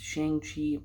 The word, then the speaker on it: Shang-Chi: the ten rings uh i've always heard it pronounced shang chi but in the movie they say shang so we're gonna go with that this is an interesting